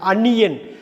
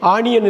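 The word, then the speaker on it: onion: அன்னியன், அன்னியன். பாருங்கள், விக்ரம் நடித்த படம் அன்னியன், கிட்டத்தட்ட அங்கே போகுது பாருங்கள். அன்னியன், ஆனியன் இல்லை, அன்னியன். ஸோ ஆனியன்னு படிக்கக்கூடாது, வெங்காயத்தை அன்னியன்னு படிக்கணும், ஓஎன்ஐ.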